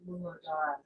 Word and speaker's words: Muladhara: So the root is, I love the word Muladhara.